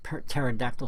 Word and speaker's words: pterodactyl: There's some people out there don't realize that the word pterodactyl starts with a P, and they don't know that you make that P silent.